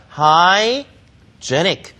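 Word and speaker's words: hygienic: 위 하인 주현의 채우자 이 단어 좀 어렵습니다 하이 뒤 하이진 이라고 하면 요 위 새 인이라는 명산 데 그 거의 형용사 0 발음이 바뀝니다 하이 주연의 아이 자의 그래서 아이가 중간에 들어가 있지만 아이 발음 없는 것처럼 그냥 쥐 이처럼 아 입자 4 i 쩐이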